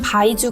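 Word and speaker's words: 白酒: 듯이 천국의 이름은 바이주 거리예요 바이주는 한자우 백주의 중국어 발음이고 백주는 바로 우리가 흔하게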